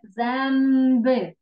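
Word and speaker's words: zęby: Там друга літерка М, ми кажемо як М в цьому слові, бо перед Б буква Л, така з хвостиком, так? Яка з хвостиком, так, дякую, з таким обонким, ми читаємо як М.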